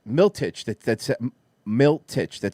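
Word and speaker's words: Miletich: white thought that it was uh uh pat milchet miltich that that's milt titch that said it right so everything he's saying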